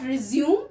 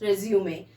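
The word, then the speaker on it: résumé: And that next and last word, resume, that is not resume, actually it is resume.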